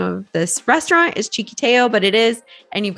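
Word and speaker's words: Txikiteo: to put it in the description and it's pronounced cheeky Teo guaranteed when you see it down you're not going to be able to make sense how the name of this restaurant is chicateo but it is and you've got to check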